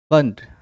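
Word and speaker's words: Pfund: कहते हैं Brackett series fifth को कहते हैं बन प साइलेंट है और सिक्स भी है इसको कहते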